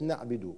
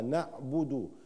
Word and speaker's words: نعبد: الباء مضمومه الباء مضمومه الباء مضمومه اؤكد على حركه الباء الباء مضمومه لان الكثير منا او من اسمعهم يقرا الباء مكسوره خطا ليست نعبد وانما نعبد وكيف احقق هذه الضمه